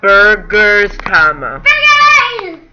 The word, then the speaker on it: Burgesstoma: oh that hurts get burgers Tama please shut up okay Burgers Tama that's how you say it I love Burgers I